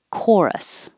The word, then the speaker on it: chorus: like coral reef and chorus looks like ch but sounds like the k exactly the same core chorus done done i learned a